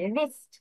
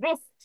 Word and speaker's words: wrist: আবার WRIST ওয়েন্স রিস্ট, ওয়েন্স রিস্ট, ডাব্লিউ উচ্চারণ হবে না, আর থেকে উচ্চারণ হবে রিস্ট, WRIST, রিস্ট।